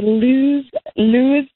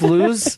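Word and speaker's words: Lewes: I went to Lewis, Delaware. How could you not say Lewis, Delaware? Because the way it's spelled, it confuses people. It's like, is this Luz?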